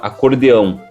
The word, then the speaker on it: acordeão: instrumento né no Brasil ele chama acordeão com a por causa da pronúncia de Portugal né então academicamente falando em geral se escreve acordeão eu prefiro muito mais acordeon com o que é a pronúncia espanhola né E que é